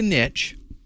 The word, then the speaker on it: niche: to start pronouncing that Niche because I think it's a French word and that's the way you're supposed to pronounce it but uh I'm from